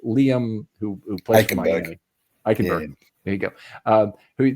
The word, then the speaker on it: Eichenberg: But Liam, who plays for Miami, Eichenberg.